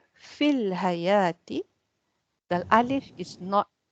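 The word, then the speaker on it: في الحياة: When you choose to say fil hayati, the alif is not pronounced.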